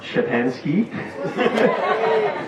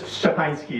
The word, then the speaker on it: Szczepanski: Hey, my name is Szczepanski. That's how I pronounce it. It's Szczepanski is the Polish pronunciation. Szczepanski is close enough.